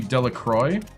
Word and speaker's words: Delacroix: It is a French last name. So, this would be Delroy.